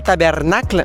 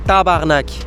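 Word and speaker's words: tabarnak: dit c'est possible mais on dit pas tabernacle on dit tabarnac les Québécois en plus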